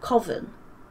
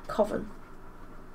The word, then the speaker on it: coven: Coven. Yeah. Coven. Don't matter how you say it. Just sounds weird. Coven. Like, you're going to Coventry.